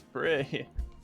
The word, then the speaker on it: Prix: Oh yeah, because Yosuke was like, I think it's Prix.